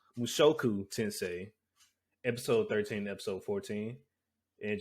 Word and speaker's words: Mushoku Tensei: list today which is mushuko tensei mushoku i'm sorry i think i pronounced that wrong last time mushoku tensei episode 13 episode 14